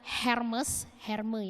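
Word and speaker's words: Hermès: Tapi percaya atau tidak saudara, orang seterkenal Oprah pernah ditolak untuk masuk di sebuah toko pakaian Hermes ya harusnya bacanya.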